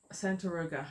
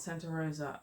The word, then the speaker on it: Santaroga: trip to Santa Roga Santa Roga not Sant Rosa I mispronounced this so